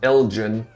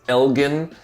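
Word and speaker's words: Elgin: in East Austin is Elgen so it's not pronounced Elgen again I don't want you to embarrass yourselves here it's Elgen hard G people who live in Elgen are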